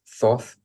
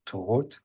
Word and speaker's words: Thoth: My master teacher is, Europeans know him as Thoth. The correct pronunciation, Egyptian pronunciation, is Tohot, who's my master teacher.